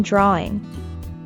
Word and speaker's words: drawing: Note that there's no w sound in drawing. The word is pronounced as drawing.